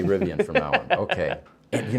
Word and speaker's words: Rivian: call it rivian so I need to say rivian from now on okay you know there were